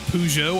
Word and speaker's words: Peugeot: earlier this year now thank you for also pronouncing it pujo Arjuna was making fun of me for that